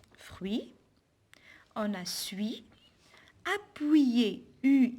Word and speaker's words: fruit: pas la lettre t fruits un fruit avec thé à la fin je prononce pas la lettre t suis comme le verbe